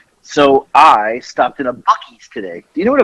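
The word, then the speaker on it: Buc-ee's: news today yeah so i stopped in a bucky's today do you know what a bucky's is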